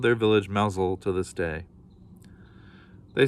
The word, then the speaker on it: Mousehole: many moons ago called mousel it's spelled mouse hole but it's pronounced mousel the mousel cat at the far